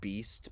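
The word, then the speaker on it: Baest: on century media called they're pronounced beast but they're spelled b-a-e-s-t i don't know if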